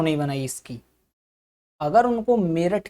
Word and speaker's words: मेरठ: ऐसे ही हमारा मेरठ है, ये जो मेरठ है हम मेरठ बोलते हैं, लेकिन मेरठ की स्पेलिंग क्या है? मेरठ की जो स्पेलिंग है वो है मीरुट। अगर हिंदी के हिसाब से देखा जाए, अगर हम हिंदी के अकॉर्डिंग इसको पढ़ें तो अगर इसको पढ़ा जाए तो क्या पढ़ेंगे? मीरुट। लेकिन है ये मेरठ।